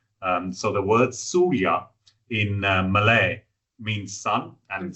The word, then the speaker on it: Suria: So the word Surya in Malay means sun, and sun is right in the center of the Malaysian flag.